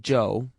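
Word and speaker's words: Chu: is amazingly Cooperative Joe spell it c h u if you want to be exotic it still pronounced Joe and that's his name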